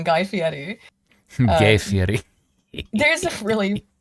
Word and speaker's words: Guy Fieri: Excuse me, I pronounced it wrong. Guy Fieri.